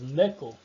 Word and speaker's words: knuckle: São casos em que você jamais deve pronunciar o K, ok? É o antes do N. Antes de N, se ele iniciou a palavra, vem antes do N e não pronuncia o K, beleza?